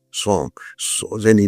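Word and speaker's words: sans: s A N as I think in French is pronounced song.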